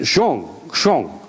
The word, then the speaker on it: Zhang: One of the other people that we brought over from China to present his study was Zhang. He pronounced it Zhong.